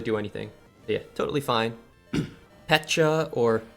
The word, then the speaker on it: Pecha: Pecha or Pekka. How do you pronounce it? I say Pecha. Yeah, similar like Peach.